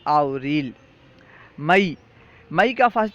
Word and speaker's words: آوریل: ہے، مارچ، مارس۔ April, April کا فارسی تلفظ ہے آوریل۔ مئی، مئی کا فارسی